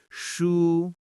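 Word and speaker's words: 书: Shu meaning book. Hold it up on the same tone. Shu. Steady and floating.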